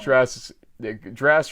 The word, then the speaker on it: Drass: But no, Coach Drass rhymes with class, and he is all that, and we do appreciate his friendship.